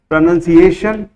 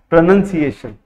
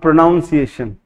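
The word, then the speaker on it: pronunciation: हैं स्पेलिंग, उसका मीनिंग, उसका उच्चारण प्रोनंसिएशन, नो प्रोनंसिएशन नॉट प्रोनाउंसिएशन, गुरुजी को धोखा देना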